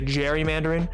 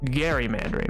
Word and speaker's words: gerrymandering: the term gerrymandering well most people say gerrymandering but it's legitimately gerrymandering which why is spelled with a G Boom the more you